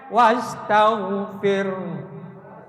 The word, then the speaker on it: wastaghfir: Wastagfir. Atau wastagfir. Ada hu-nya dikit. Tapi setengah harkat.